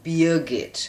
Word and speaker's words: Birgit: There is an R sound, but we are kind of lazy and we don't pronounce the R sound. So Birgit.